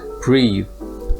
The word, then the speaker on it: breathe: a short vowel breath meanwhile breathe with an e at the end is the verb and you pronounce this with a long vowel so you breathe or